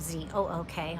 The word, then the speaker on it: Zook: that's how we have Z-O-O-K, although we chuckle, people still can't pronounce it. Ken will say it rhymes with look, book, everything, but they mostly settled in eastern PA.